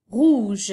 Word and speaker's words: rouge: Rouge, donc la couleur rouge s'écrit R-O-U. G-E. Alors ici, ton G dans rouge, on appelle un G doux, puisqu'il fait le son J.